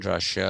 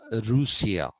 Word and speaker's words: Russia: Incidentally, even the pronunciation Russia is wrong. It is Rusia.